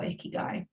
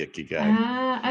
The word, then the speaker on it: ikigai: world needs that's what the Japanese call your ikigai that's interesting I've never heard I've never heard of the icky guy okay yes I don't know that I've pronounced